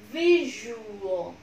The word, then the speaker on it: visual: Visual, có lớp nhìn này, vi này, vi nhận trọng âm, ju là âm tiết thứ hai, o là âm tiết thứ ba, visual, visual, đó, không phải o nữa nhá, âm visual, one more